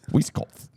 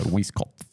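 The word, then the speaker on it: Weiskopf: Uh, designed by the late Tom Wiskoff. Sorry. Sorry. Whiskoff. There's a P and an F next to each other. So, Whiskoff.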